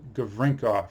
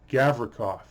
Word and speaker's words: Gavrikov: So next up, Vladislav Gavrinkov. Nope, Gavrikov. I was always pronouncing that now. I was trying to, there's no N in that name. It's Gavrikov, not Gavrinkov.